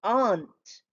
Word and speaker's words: aren't: Are not is aren't. Just like aunt, we say aunt, same pronunciation for aren apostrophe t.